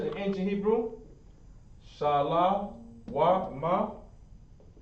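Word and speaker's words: שלום: letters the ancient hebrew shah law ma remember it's not shalom but let's go ahead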